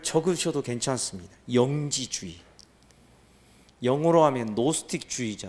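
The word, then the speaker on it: Gnostic: 괜찮습니다 영지주의 영어로 하면 노 스틱 주의자 될 뭐 영어로 스펠링 하면은 쥐 붙었으니 깍은 5t 스틱이 뭐 그 노티 즘 이렇게 합니다만 쥐가 얘 말하면 묵음 이 되니까 노 스틱 주 의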